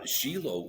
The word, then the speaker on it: Shiloh: I've always called that place Shiloh. Now, you are in Israel. How do they pronounce it in Israel?